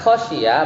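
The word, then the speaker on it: خَشِيَ: Kalau bi fathil kha, kalau kita bacanya khosyia berarti fiilnya fiil apa? Fiil maklum.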